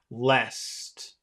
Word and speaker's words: lest: I well you know I think that with the combination of the E and the S it's pretty it sounds like pretty long L Le l l it's really the S that's long but let's say that it's long let's say that it's a long sound okay can you say